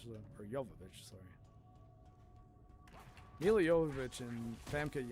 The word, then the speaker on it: Jovovich: And Resident Evil's definitely the movie that got him Milla Jovovich, so or Jovovich, sorry.